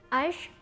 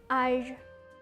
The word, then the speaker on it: âge: A yang punya akson circonflex ini biasanya dibacanya agak panjang. Jadi bukan âge, tapi âge.